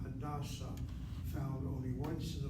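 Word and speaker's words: Hadassah: The proper name is Hadasa. Hit the first syllable for the personal name. Hit the second syllable for the hospital.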